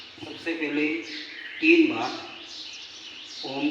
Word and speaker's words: ओम: ओ में तीन शब्द हैं। अ, ओ और म। अ का जो उच्चारण होता है वो पेट से शुरू होता है। अ आपका पेट अंदर जाना चाहिए। वहां से ओ का जो उच्चारण होता है वो आप के गले का उपयोग होगा। इसमें ओम और म का उच्चारण है वो होठों से होता है।